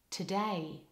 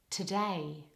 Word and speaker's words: today: syllable ready honored honest now in the word today the first syllable has a weak vowel so there's no lip rounding for the O the letter O in the first syllable of today that letter makes a schwa vowel which is completely relaxed very weak and very quick like this today today so let's put that